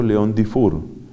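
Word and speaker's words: Léon-Dufour: Y se pronuncia, por supuesto, León Dufour.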